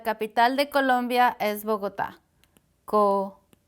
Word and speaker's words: Colombia: Colombia. You hear the accent is here. Colombia, but no accent because this is an A.